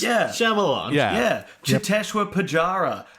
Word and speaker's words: Shyamalan: Like, M. Night Shyamalan, not that hard. 3 syllables. Yeah. Shyamalan.